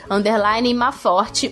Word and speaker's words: Mafort: Então é o mesmo arroba, T-A-T-I, _, Maforte, o T é mudo no final, e é Maforte com F de faca.